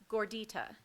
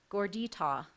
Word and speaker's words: gordita: from Latin to Spanish gordita any alternative pronunciations the alternative pronunciation is gordita dor d ITA gordita that is correct that